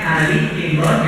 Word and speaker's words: Ali Imran: al-qur'an adalah surah Ali Imran surah Ali Imran bacanya Ali Imran yang artinya adalah keluarga Imran surah Ini Istimewa